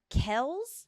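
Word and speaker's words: Kelce: two did you know it's apparently Travis Kell's now you're lying not a shot so I thought this was just clickbait uh I'm looking at our producer here his father said that we were pronouncing his name the wrong way right is that what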